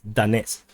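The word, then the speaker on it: Donetsk: so moving on to donate front in the donate front or donate front or someone someone in the comments told me to pronounce this as danette's so danette's front the ukrainians attacked uh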